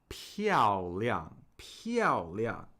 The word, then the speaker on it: 漂亮: So 漂is interesting because 漂 is a triphthong. We're combining p and iao. So here we're combining p and iao. So we're combining 3 vowel sounds, a triphthong.